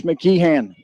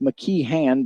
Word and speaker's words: McKean: letting me know that it is officially pronounced McKean but he's been called mckian so many times that he goes by that as well here's a 3-2 and